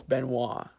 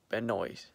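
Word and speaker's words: Benoist: the depart Melissa Benoit that's how you pronounce her last name to all those wrestling fan out there you know I'm talking about it's Benoit not been noise so Melissa Benoit she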